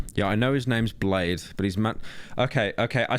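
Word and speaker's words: Bladee: Whoever uploaded this, they purposely auto-tuned only when Bladey speaks. No one else is auto-tuned except him. Yeah. How do you say it, Bladey? I say Blade, but you can say Bladey too.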